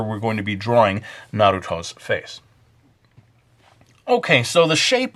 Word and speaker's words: Naruto: notice I don't say Naruto I just can't say it that way the Japanese pronunciation is more or less Naruto so we're going to